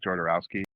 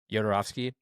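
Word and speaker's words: Jodorowsky: Yeah, that's uh Jarowski. Yodorovski. Yeah. Yeah, that's how you say it.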